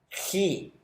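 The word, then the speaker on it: χῖ: Luego tenemos tau, upsilon, phi, chi. Notemos esta letra, es importante, no es como la X en español, sino que su pronunciación es como la J en español, pero un poco más gutural, algo así.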